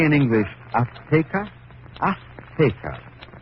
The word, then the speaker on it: Azteca: She said, how do you say in English, Azteca? Azteca. She gave the Z a TH sound. That's Castilian Spanish. Mexican or any Spanish American would say Azteca.